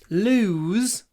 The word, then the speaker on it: lose: so this word is longer but when we pronounce it it's much shorter which is weird isn't it it it is weird anyway lose loose I don't want to lose my loose